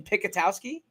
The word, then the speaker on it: Picatowski: Is it Is it correct in in Picatowski? Yeah, that's that's exactly how you say it.